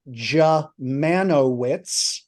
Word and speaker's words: Dziemianowicz: And the American pronunciation of that ghastly last name, which makes me the Unspeakable or the Unpronounceable, is Dziemianowicz.